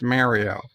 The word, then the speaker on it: Mario: pronounce your name correctly your name is pronounced mario there is there's no ifs ands or buts about it that's just the way it is uh it says it says